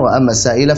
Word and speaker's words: السائل: Sama juga misalkan فأما اليتيم وأما السائل فلا تنهر فأما اليتيم فلا تقهر وأما السائل فلا تنهر. Ayat 10 yang harusnya وأما السائل dibaca 4 harakat malah dibacanya 1 harakat begitu ya.